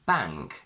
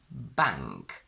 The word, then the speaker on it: bank: that's not true, because if I say bank, as you can see, my tongue never touches my teeth and it automatically goes back as if it were a ng. So we say bank.